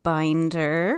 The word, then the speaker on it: Binder: So Binder rhymes with finder.